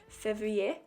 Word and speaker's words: février: February in French is pronounced février, and I wrote it in some wispy lettering above all of the days of the month on my cover page.